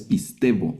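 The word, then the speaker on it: πιστεύω: Este es un diptongo. el diptongo y aquí la y va a tomar un sonido de v, por eso lo vamos a leer pistvo teu sino tuo. Si no es pistevo, la lectura pistvo es creer o yo creo.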